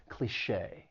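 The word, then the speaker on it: cliché: pronunciation don't really match cliche it has two syllables the stress is on that second syllable and the c-h-e with the accent mark sounds like Shea cliche the next word is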